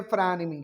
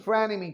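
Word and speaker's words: frenemy: देखिए यहां पर प्रोनाउंसिएशन को आपको क्लियर करना होगा। ये वर्ड जो लिखा हुआ है इसे हम बोलते हैं फ्रेनेमी। क्या बोलते हैं? फ्रेनेमी।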